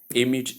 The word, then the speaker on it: image: Short E sound in the place of the diphthong A, that should be noted. So the word image is simply image.